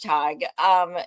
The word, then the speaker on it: Tadhg: So Tadhg Hickey, who is joining us from Cork, which I love so much. That was one of my favorite places when I went to Ireland. Thank you so much, Tadhg.